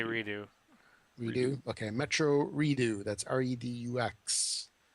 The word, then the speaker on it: Redux: Now, how do you say that? Redux or is that Redo? I say redo.